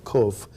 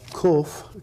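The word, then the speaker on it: קוף: explain how the letter Kof implies cycles of growth through the history of humanity. Now, Kof can also be pronounced Kof with a long O. And that's the Hebrew word for monkey.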